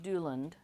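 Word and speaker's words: Duilond: of discussion on how to pronounce things I pronounce it Doland um so neither of those um I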